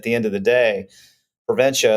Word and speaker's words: Preventia: started with the podcast how exactly do you pronounce prenta well it's easy you just say I'm gonna prevent you from getting sick I'm gonna prent you